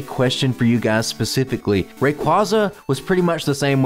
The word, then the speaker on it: Rayquaza: Alright, after pausing the recording, it appears that it's Rayquaza, a mix of the words Ray and Quasar, so who knew? I was saying it wrong all the time.